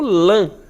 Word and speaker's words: lã: ideia de som fechado, Assim como lã, O lã, dá a ideia como se tivesse o N aí depois.